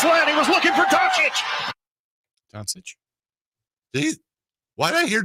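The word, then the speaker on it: Dončić: I mean, like Doncic. Yeah. Or like Doc. It almost sounds like it rhymes with Jockitch.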